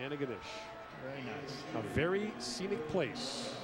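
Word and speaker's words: Antigonish: for the BC Lions how do you say that again St Francis Xavier no no no no no that last part Anna ganish yeah there you go Anna ganish very nice very Scenic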